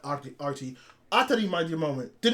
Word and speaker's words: ATRI: No, not Atari. That's how they say it in the anime!